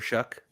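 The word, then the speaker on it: Shough: trying to figure out where you get that pronunciation how you get how you get ck from gh i mean in slavic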